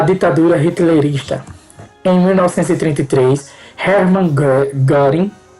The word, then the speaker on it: Göring: Em 1933, Hermann Göring, a pronúncia é alemã, chefe das SA, das seções de assalto, criou a Polícia Secreta de Estado, a Gestapo, que Hermann Göring.